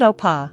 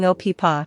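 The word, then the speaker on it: 오빠: The double is a tense, unaspirated P sound. It's not oppa like a whisper, but a firm, almost popping opa. Tense your throat slightly when making the P sound.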